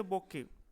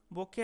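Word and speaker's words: bouquet: ই টি বকে আর এটাকে আমরা বকেট বলবো না এটা কি হবে বকে তারপরে প্রশ্নটি দেখো দ্যা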